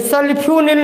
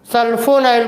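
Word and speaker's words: sulfonyl: सल्फ्यूनिल नहीं है, सल्फ्यूरिल ये बनाया गया है, सल्फो बोलना पड़ेगा, स्पेलिंग पर ध्यान दें। सल्फोनाइल क्लोराइड ये यूज किया गया।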